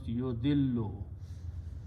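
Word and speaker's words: يُضِلُّ: When we put a ya in the beginning, it becomes yo. We don't pronounce alif, so it becomes yudillu. 2 lams can be written with a shadda. So yudillu means he sends astray.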